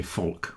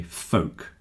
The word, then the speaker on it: folk: So this word folk, some people might say folk with an L, but most people say folk rhymes with coke.